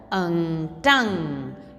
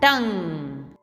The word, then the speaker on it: tongue: We will not pronounce UE in tongue. UE is silent. So T tongue, T tongue.